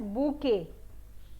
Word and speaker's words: bouquet: को ये बोलते हैं, लेकिन कई लोग टी को साथ में प्रोनाउंस कर देते हैं. तो हम यहाँ पे जब इस गुलदस्ते की बात आती है, फूलों के गुलदस्ते की बात आती है, तो we call it एज बूके, right, and नॉट बुकेट.